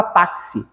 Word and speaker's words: táxi: pro dífono primeiro dífono é o x com som de KS então na palavra táxi palavra taxi possui quatro letras e cinco fonemas Por que cinco fonemas